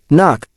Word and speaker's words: NOC: Non-official cover. Knock. Pronounced knock.